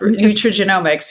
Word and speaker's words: nutrigenomics: Nutrigenomics. How do you say that? Nutrigenomics.